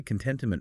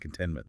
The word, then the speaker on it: contentment: But sometimes that middle T gets a little lost in native speech. We don't say contentment really hard. It's softer, more like contentment. The flow is gentle.